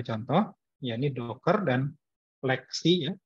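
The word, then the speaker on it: LXC: Nah, ini ada 2 contoh, yakni Docker dan Lexi ya. XC dibacanya Lexi ya.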